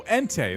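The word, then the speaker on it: Entei: Oh, Ente. That's correct. Yes, I've heard it pronounced that way.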